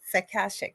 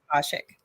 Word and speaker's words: Akashic: master energy healer aashik aashik records is that how you say it yes aashik yeah some people say aashik records a practitioner medical intuitive